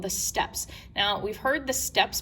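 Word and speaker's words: steppe: this area called the steps now we've heard the steps before um it could also be permanent pronounced the steppy i say step when the non-indigenous people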